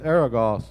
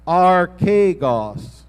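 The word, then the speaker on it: ἀρχηγός: I first looked at it and I said, that's aragos. Aragos. How you pronounce that? Aragos. Aragos. So I looked it up and it's archegos.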